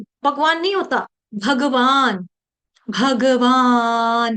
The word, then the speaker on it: भगवान: हम रोज बोलते हैं भगवान भगवान नहीं बोलना है भगवान ग पूरा हिंदी में चल जाता है भगवान भगवान भगवान वहां पे ग आपका उच्चारण आधा कर रही हूं मैं हिंदी में चल जाएगा अर्जुन न हलंत आ रहा है हिंदी में चल जाएगा संस्कृत में नहीं चलता संस्कृत में जो वर्ण